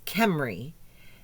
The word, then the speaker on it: Cymru: the proper way or the Welsh way to say the city? And it's Cymru. Cymru is... Wales. Yes. Wales, yes. So it's like the Toyota Camry, but it's instead of Camry, it's Cymru.